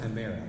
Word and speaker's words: chimera: It's the chimera. That's right. Actually, it's pronounced chimera.